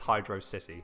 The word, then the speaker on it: Hydrocity: in the sonic franchise how do you pronounce it but i go hydro hydro city don't have me and don't change my mind because it you won't